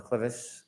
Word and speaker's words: clivus: Were you a presenter in fractures of the clivus, clinical and radiographic features? Yes. Am I pronouncing that correctly?